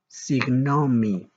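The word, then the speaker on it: συγγνώμη: Signomi.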